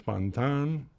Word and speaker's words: Pantin: They use the pronunciation name, the French pronunciation of her name, Mr. and Mrs. Fantan.